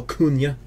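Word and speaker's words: Acuña: Jesse has told me I have to say his name like that Oh Cunha oh yeah okay desi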